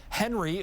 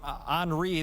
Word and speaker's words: Henri: north of bermuda that should become henry or henri the official pronunciation and then grace south